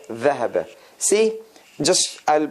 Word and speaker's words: ذهب: So if we want to distinguish between dhahaba, dhuhr is the tongue is much further out than ذهب.